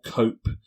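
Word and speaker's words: Coppe: called abiza cop or cope uh most people pronounce it cop but I prefer cope because I don't want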